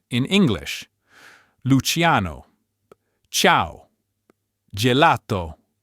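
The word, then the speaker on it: Luciano: Luchiano, ciao, gelato, grijo. Note the i in luchiano and grijo is silent. Its role is only to soften the consonant before a, o, u, h or any consonant.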